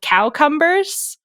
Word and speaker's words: cowcumber: But for a brief period of time in Middle English, they were called cowcumbers, and the pronunciation cowcumber was standard instead of cucumber because you didn't want them.